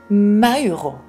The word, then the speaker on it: Moro: donc je pense que pour lui ça se prononce pas Moro mais plutôt Mauro quelque chose comme ça Justine Moro était